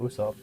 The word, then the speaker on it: Usopp: Even the original creator of the show says Usopp. He says his own name as Usopp half the time, and it's phonetically spelled Usopp, so that means it's pronounced Usopp.